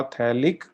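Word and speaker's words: phthalic: सही जवाब है लिक्विड इसमें पी साइलेंट होता है तो यह है आपका फैलिक एसिड नाइस अरे यार गोइंग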